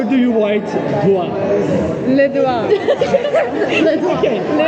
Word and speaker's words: doigt: How do you write doigt? Le doigt. Le doigt. Okay. Le doigt. How do you write E-S B-O C I-G-T-S. Yes! What do Why? You only pronounce 3 letters.